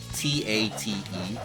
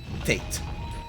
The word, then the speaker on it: tate: see the word tate, t a t e, and thus they keep pronouncing it as tate. That's not how you pronounce it because it's a Japanese word, tate.